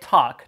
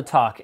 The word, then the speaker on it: Toq: review of The qualcom Talk Smartwatch guys please the pronunciation is talk like tick tock not to at least until they